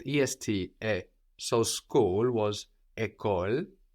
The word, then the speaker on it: école: School is école.